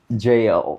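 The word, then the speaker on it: gaol: It's G A O L, but it's pronounced JL. It's close to JL. Okay, it kind of rhymes with tail, but it's even closer to Jael, who is actually in the book of Judges.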